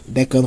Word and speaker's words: decano: Eh, decano, como vocês podem perceber pela pronúncia, é propoxíona, tá?